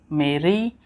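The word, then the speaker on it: میری: Mera, and this is meri, and this is mere. The third one is bit different. This is a sound. Mera, meri, like e sound, re, and this is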